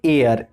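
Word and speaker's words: heir: इसी तरह से एयर, ईयर। तो एयर में क्या होता है? हमारा एच साइलेंट होता है, इसका मतलब होता है उत्तराधिकारी।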